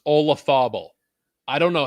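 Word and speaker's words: Olazábal: name a loz ball somehow that name is pronounced olafobo i don't know how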